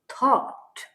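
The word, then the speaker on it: thought: Reflection H ई ही टी एच ओ यू जी एच टी थॉट थॉट अब यहां पे जी लिखा है। जी नहीं पढ़ा जा रहा है।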